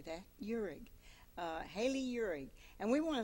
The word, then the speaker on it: Uhrig: Uhrig. Spell that. Uhrig. I can say that. Uhrig.